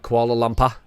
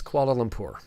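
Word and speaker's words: Kuala Lumpur: guys mispronounce koala lumur it's not koala Luma it's koala lumur but I get it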